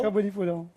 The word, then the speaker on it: Kabuli pulao: le riz basmati, c'est un kabouli pulao. Kabuli pulao. Je prononce bien?